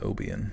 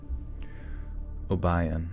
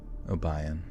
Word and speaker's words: Obion: kidnapped her was not how do you say this place Oban Obion okay Obion so wait this is